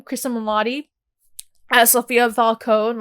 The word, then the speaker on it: Cristin Milioti: What are your thoughts about seeing Cristin Milioti, I believe that's how you say her name, Cristin Milioti, as Sophia Falcone?